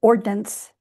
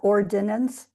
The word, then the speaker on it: ordnance: So the 1851 map is based on the British Ordnance Survey Map of 1851. And ordnance, that's 2-syllable word, not ordinance, ordnance survey map.